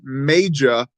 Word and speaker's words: Maja: No, she does not know how to pronounce words. It's Maja, which is the female version of Magus.